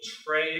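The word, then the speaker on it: Tiree: a Scottish island, which I'm never able to pronounce. Tray, I believe it's called, T-I-R-E-E.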